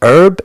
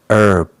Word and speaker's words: herb: It's very important that you just say herb. No s. Herbs. Well, that's stuff like spices, stuff you use to add flavor to your food. And in American English, we don't pronounce the H.